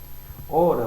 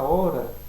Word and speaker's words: hora: Se você falar, por exemplo, hora, você vai perceber que a sua pronúncia hora, ela não, a letra H, ela não aparece. Só vai aparecer na sua pronúncia, no som que você pronuncia, o O, R e o A.